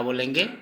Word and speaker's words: ব: हिंदी और असमिया में फिर से, जैसे कि पहले बता चुका, हिंदी असमिया और हिंदी में असमिया अक्षर का उच्चारण लिख के बताऊंगा।